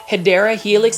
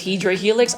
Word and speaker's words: Hedera helix: you already know that I was mispronouncing um hedera Helix as hedra Helix I just think hedra